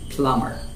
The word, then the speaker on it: plumber: it is just plumber just forget about the b and don't pronounce bull just plumber what is your father